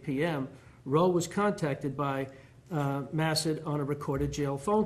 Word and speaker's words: Massad: client received information that the suspect, former Port Richey Mayor Dale, and it's pronounced Massad, Judge, like acid with an M. That's how he pronounces it? Massad.